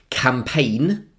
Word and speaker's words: campaign: And then we have a verb, campaign, C-A-M-P-A-I-G-N. So a silent G is there, campaign.